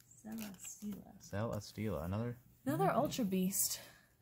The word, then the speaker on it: Celesteela: Celesteela. Yeah, Celesteela. Celesteela.